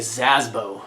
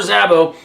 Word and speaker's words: Sabo: Bob or Robert Sabo I always want to say SAS bow until I'm pronouncing it completely wrong anyways but Robert Sabo post the following on